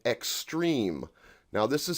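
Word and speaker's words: XSTREEM: today started his own label with friends called extreme now this is spelled all caps x-s-t-r-e-e-m in 2014 and that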